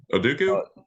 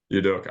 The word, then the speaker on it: Udoka: I guess you played Nick Nurse, and then I always butcher his name, Celtics Oduku. Udoka. I've always butchered it.